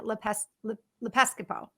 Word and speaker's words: Lepiscopo: It's Colin Lepiscopo. Did I say that right? I said it right at the Lepiscopo. beginning. Yeah, Lepiscopo.